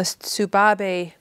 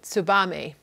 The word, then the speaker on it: Tsubame: It's in the Tsubabe, I can never say it right, Tsubame.